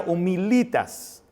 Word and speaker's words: humilitas: Viene de una palabra latina que dice, que se pronuncia humilitas.